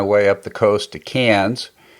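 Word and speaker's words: Cairns: up the coast to cans I know it's spelled KS but it's pronounce cans if you're over in Australia and then I flew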